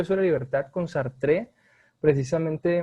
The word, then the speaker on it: Sartre: mandó un mensaje diciendo, muy bueno, pero se pronuncia Sartre.